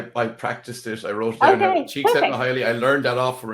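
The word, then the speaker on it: Csikszentmihalyi: is state cheek saying i know how to pronounce it i practiced this i wrote she said highly i learned that off for a piece nice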